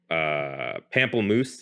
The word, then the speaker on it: pamplemousse: It's the pamplemousse.